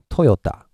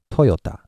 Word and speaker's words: Toyota: to say this word in Japanese yeah it's Toyota okay Toyota so now today we've learned this principle of